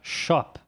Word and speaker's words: shop: Olha só, a palavra shop. Shop. O último fonema a ser pronunciado é o p. P. E isso acaba ficando shop.